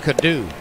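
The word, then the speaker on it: Coddou: C-O-D-D-O-U, pronounced Cadu.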